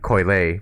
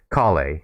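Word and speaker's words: Collei: stop bringing their colleagues for the longest time i called colleague coyle for some reason i don't know why they're yeah i just been mispronouncing her name for such a long time i gotta rewire my brain to call to sing her right name kali kali huh why because these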